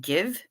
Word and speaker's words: GXVE: She pronounces it give.